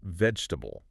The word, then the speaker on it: vegetable: But in common natural English speech, it's almost always pronounced with only three syllables.